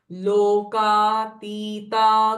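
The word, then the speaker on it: लोकातीता: लोका तीता गुणा तीता दिस ती साउंड इ दीर्घ लोका तीता गुणा तीता सर्वा तीता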